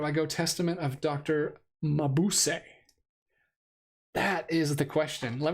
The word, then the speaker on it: Mabuse: Yeah, so yes, Mabuse. Okay, so I was saying it right.